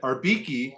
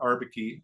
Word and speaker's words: Arbikie: listen up all right ariki is how they say it not ariki ariki um is uh